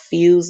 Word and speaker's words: Fuze: It's called Fuse. It's spelled Fuze, and it's strawberry peach flavored green tea, and this is really good.